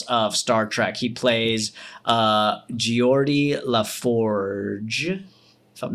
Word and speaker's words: Geordi LaForge: He plays Geordi LaForge, if I'm not mistaken. That's Nailed how it. it's pronounced.